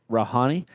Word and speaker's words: Rouhani: Rouhani?